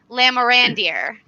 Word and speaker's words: Lamorandier: us from s i all lions is lamorandir oh you nailed it thanks are really excited